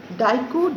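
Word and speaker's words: Diku: question who are daikus daiku d-i-k-u the american accent is daiku you can pronounce as deku also who are daikus question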